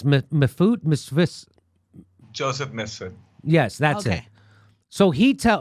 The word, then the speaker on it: Mifsud: Was how do you pronounce the guy's name who told Papadopoulos? It's Mifut, Misfis. Joseph Mifsud.